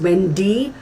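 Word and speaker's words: Wende: One of Sharon's friends was the actress Wendy, W-E-N-D-E, but pronounced as Wendy Wagner, who died in the 1990s.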